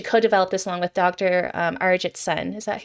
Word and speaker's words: Arijit Sen: Arijit Sen. Is that how you pronounce her name? Okay, Arijit Sen, yes.